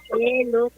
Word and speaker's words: Lutz: Lutz.